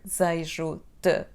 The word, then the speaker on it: desejo: There is again that letter E that disappears in the pronunciation, so it sounds like like the schwa sound. However, we have de and then z in the next syllable. When we pronounce them quickly, one next to another, it sounds like z, so don't be confused.